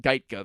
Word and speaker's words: Gajtka: right you pronounce it geica though like geico i suppose but with an a at the end sweeps mccool on twitter